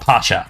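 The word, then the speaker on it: Πάσχα: across the globe so in Greek it's called Pacha in Italian it's Pascual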